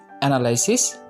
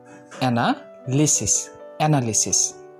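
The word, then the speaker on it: analysis: আচ্ছা, এখন আমরা 8 নম্বরটাতে যাব। 8 নম্বরটা হচ্ছে, এটা আগে আমরা উচ্চারণ করতাম অ্যানালাইসিস। এখন আমরা এটা সঠিকভাবে উচ্চারণ করব। এটা সঠিক উচ্চারণ হবে অ্যানালিসিস।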